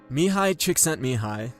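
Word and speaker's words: Mihaly Csikszentmihalyi: about this coming up mihai chick sent me high and that's by the way how you say his name dedicates a big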